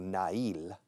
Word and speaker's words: nail: Nail, escrito nail, pero se pronuncia nail, significa uña de la mano o del pie, a un clavo, pam, pam, pam, a hammer and a nail.